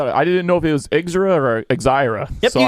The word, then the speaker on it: Exira: One from Red Cloud, Nebraska, and another one from, and I hope I pronounced this right, Exira. Exira. Yep. I didn't know if it was Exira or Exira.